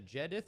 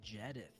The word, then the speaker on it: Jedith: right calling him up wait how do you say your name is a gedith or Judith it's jedith okay well my bad I